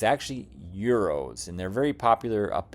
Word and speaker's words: gyros: do have a destination dialed in for a Euros restaurant a lot of people think it's pronounced Gyros but it's actually euros and they're very popular up in Chicago area